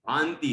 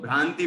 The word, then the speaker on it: भान्ति: समम भांति, भांति है, कुछ लोग भ्रांति पढ़ते हैं, भ्रांति नहीं है, भ्रांति तो भ्रम को कहते हैं, भांति है ये, ठीक है।